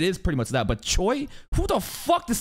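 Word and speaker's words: Choi: Guild leader CH again the Korean way of pronounciating Choy which is like if you're an English speaker and you see c h oi you're going to think Choy right it's Cho but it's actually CH which is so weird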